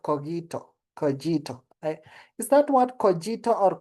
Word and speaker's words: Kogito: Coito is that what? Cojito or Kito? Kito or Kito. Um, okay. Let's Let's say it's coito. Okay. Or kito. It's kito. Kito.